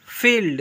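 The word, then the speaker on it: field: Word के last में आई ई आए तो आई ई को बड़ी ई से पढ़ते हैं। देखिए एग्जांपल पर एफ आई एफ आई ई एल डी इसे पढ़ेंगे फील्ड।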